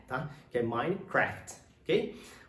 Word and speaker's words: Minecraft: uma palavra bem grande ela tem só duas sílabas com aqui ó entre